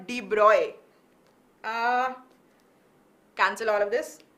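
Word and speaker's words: de Broglie: de bruy's hypothesis okay and yeah i mean d broccoli is how we learn to pronounce it right i also learned it the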